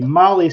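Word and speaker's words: MAHLE: And for all of our podcast listeners, Molly is spelled M-A-H-L-E.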